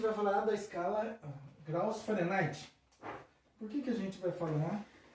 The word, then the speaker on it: Fahrenheit: A escala graus Fahrenheit ou Fahrenheit, aí você, a forma de pronúncia, né, é a forma de pronúncia alemã, né, e a Kelvin.